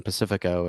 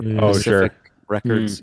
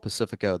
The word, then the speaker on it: Pacifico: oh, it's released in Pacifico, and it's sure. And so many people call it Passy Records or Pacific Records. Like I get it. But it's not that hard.